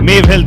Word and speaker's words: Mave Health: CEO, Mave Health या Mave Health, मुझे थोड़ा pronunciation बता दीजिए. Mave Health, right? Okay, Mave Health it is.